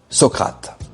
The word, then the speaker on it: Socrate: Au loin, il entendit alors une voix lui souffler la bonne prononciation Socrate.